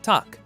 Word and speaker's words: takk: Hello in Icelandic is pronounced halló. Thank you is takk.